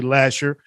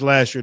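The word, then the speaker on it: Lahser: grand river um yes i said last year david because if you're in detroit you say lasher i know it's spelled l-a-h-s-e-r but damn it is last year to us so um uh we'll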